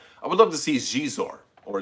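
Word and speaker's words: Xizor: would love to see jizor or zizor or you know i think i think it's supposed to be pronounced jeez or but x-izo like the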